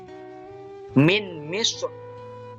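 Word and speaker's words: من مصر: Ainal qitr, ainal qitr, ainal qitr, min misr, min misr, min misr. Asalnya min misra, min misra. Ainal qitri, ainal qitri. Nah, ro-nya ini sukun karena dia waqaf didahului dengan huruf isti'la, maka dibacanya tafkhim, tebal.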